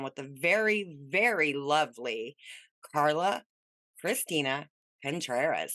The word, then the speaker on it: Carla Christina Contreras: We are sitting down with the very, very lovely Carla Christina Contreras. How you doing? I'm great. Thank you. You pronounced my name beautifully.